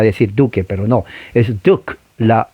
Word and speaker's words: Duke: en la Universidad de Duke. Duke es una universidad, se escribe Duque, pero recuerde, no se pronuncia la E en inglés.